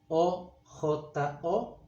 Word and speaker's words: ojo: The word I is pronounced ojo. It's written O-J-O, ojo. Remember, it's not ojo, but ojo.